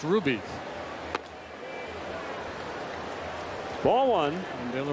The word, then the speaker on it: Rubby: Ruby with two B's. R-U-B-B-Y. Looks like Rubby, pronounced Ruby.